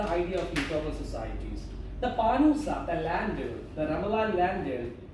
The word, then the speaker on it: Pānūsa: The same Pānūsa culture can be seen in Egypt also, where it's known as Pānūs. Slight pronunciation difference.